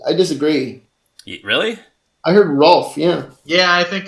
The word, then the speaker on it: Rowlf: his name more like Rolf. Some people say it more like Ralph. I'm a little bit more on the Ralph side.